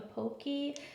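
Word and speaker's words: Apogée: This is, I believe, a Pokey. That's how you say it. It's French.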